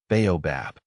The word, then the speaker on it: baobab: The name is pronounced as baobobab. The emphasis is on the first syllable and the bab is pronounced softly.